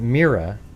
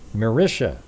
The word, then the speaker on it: Marisha: She would still be explaining that her name isn't Mira, but Marisha.